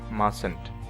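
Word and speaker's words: mustn't: And finally মাস্ট থাকলে কি হবে মাসেন্ট, প্রোনাউন্সিয়েশনটাই হবে মাসেন্ট। ওকে, MUSTN অ্যাপোস্ট্রফি মাসেন্ট।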